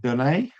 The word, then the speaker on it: Donais: Is it pronounced don?